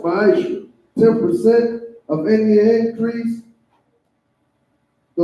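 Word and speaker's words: מעשר: Means tenth in Hebrew, and is pronounced ma'asher.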